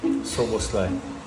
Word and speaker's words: Szoboszlai: Dominic Szoboszlai.